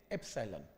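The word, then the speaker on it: epsilon: जैसे alpha beta gamma symbol होते हैं, ये एक सिंबल है, इस सिंबल को क्या प्रोनाउंस करते हैं? एप्सिलॉन।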